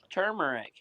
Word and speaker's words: turmeric: Turmeric. There you go. Turmeric. 3 syllables.